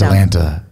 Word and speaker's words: Atalanta: I'm going to try to pronounce this properly. Atalanta. Into it. I like it. It's Atalanta.